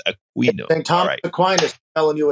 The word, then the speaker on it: Aquino: We say AQUI is Aquino. You had to teach me that your pronunciation is Aquino, so it's Aquino.